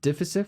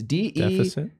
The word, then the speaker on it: Deific: Deficit Fox. It's DEIFIC. Well, let me see. DIFIC Fox. DIFIC. I guess.